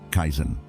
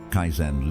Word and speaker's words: Kaizen: Kaizen. 2 simple syllables. Kai, change. Zen, better.